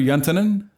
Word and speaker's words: Juntenen: anyway his name's yuntonen did I pronounce that right oh yeah that sounded real finished yeah actually oh good the yaw was a bit German but yeah okay yeah